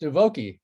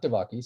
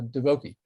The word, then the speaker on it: Divoky: And his last name, however, is pronounced Divoky, not Divoky, so Divoky.